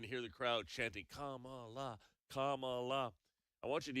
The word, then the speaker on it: Kamala: Just three simple syllables. Kamala, right?